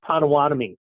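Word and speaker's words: Potawatomi: lived here half your life so it's it's pronounced patami so first thing uh okay we've got site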